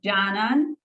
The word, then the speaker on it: Canan: Tell everybody on Fright School how your names are properly pronounced. It's Canan.